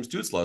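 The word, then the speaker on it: Stützle: But a name like Tim Stutzel, who knows? It's Tim Stutzla.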